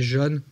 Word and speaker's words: jaune: Donc là, par exemple, à gauche, on a la prononciation du mot jaune, qui va se prononcer jaune avec un O ouvert au sud de la France, et plutôt jaune avec un O fermé en haut.